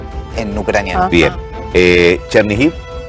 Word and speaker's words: Chernihiv: Chernihiv, Chernihov en ruso.